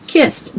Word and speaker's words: kissed: Kissed, that means that somebody already did it, so it's in the past. So we add ed, but the ed doesn't say duh, it says tuh, right?